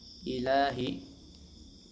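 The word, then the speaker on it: إِلَٰهِ: Ilahi lahi. Ilahi. Maaf ya teman-teman ya. Ilahi. Lanya dibaca panjang dua harakat karena alif didahului fathah. Setelahnya bukan hamzah atau sukun asli ya. Dibaca dua harakat.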